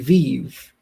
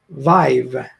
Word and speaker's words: Vive: that right now uh it's not pronounced htc vive it is vive with the sound of i i prefer it my